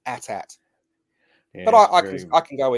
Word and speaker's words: AT-AT: Yes, it's AT-AT, not AT-AT.